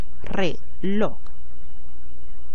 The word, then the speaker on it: reloj: Reloj. Reloj. Como puedes observar, la fuerza de voz está en la última sílaba de esta palabra, aunque esta no termine